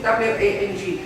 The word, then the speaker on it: Wang: So my name is like Wang, is W-A-N-G. It's Wang.